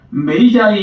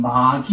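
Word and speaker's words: magi: 그 다음에 NIV 성경에 보면 메이자이 이런 단어를 쓰는데요. 한글로 발음을 그대로 적으면 마기 이렇게 됩니다.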